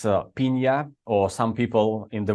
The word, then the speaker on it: Pinja: set of presentation so I'm coming company called paa that's the Finish pronunciation and and okay so so I am